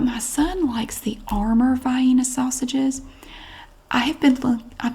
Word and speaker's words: Vienna: I do know that that is Vienna but the regional dialect around here people everybody pronounces it by ena and I grew up pronouncing it by ena Vienna sausages these are